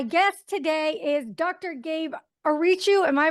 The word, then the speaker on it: Ariciu: Gabe Arichu. Am I pronouncing that right?